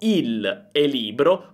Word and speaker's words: il libro: But for example for the word "libro" since we have two "l" next to each other, we pronounce "il libro" as if they were a single word.